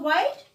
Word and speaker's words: white: When E comes at the last, E is silent.